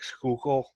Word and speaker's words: Schuylkill: I had them look up some words and pronounce them for me words like Schuylkill Schuylkill yeah it's a river it's a river